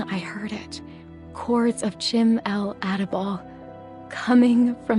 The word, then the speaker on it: Chim-el Adabal: Chords of Chim-el Adabal coming from the balcony above me. Chim-el Adabal.